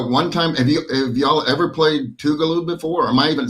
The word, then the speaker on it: Tougaloo: Have y'all ever played Tougaloo before?